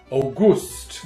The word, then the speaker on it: Auguste: It's spelled August with an E on the end, so I think that's not to be pronounced August. You've got to pronounce that Auguste.